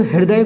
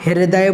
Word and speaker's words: हृदय: यदि संभव है यह कुछ लोग हृदय को अच्छे से नहीं पढ़ पाते हैं कोई विरुद्ध है बोलते हैं या ह्रदय बोलते हैं नहीं हृदय हृदय हृदय हृदय हृदय हृदय बोलना है रवि बोलना है रहता